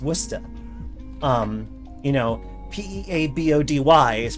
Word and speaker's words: Worcester: like uh you know w-o-r-c-e-s-t-e-r is pronounced wusta um you know p-e-a-b-o-d-y